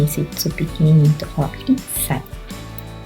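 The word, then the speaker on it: 一歳: 1 ano de idade se fala isai. É esse kanji aqui, se fala isai. Então tem uma pausa aqui, né? Que tem esse tsu pequenininho, então fala isai.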